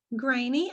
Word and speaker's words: Greaney: my channel a special guest today is graney i hope i'm saying your last name correctly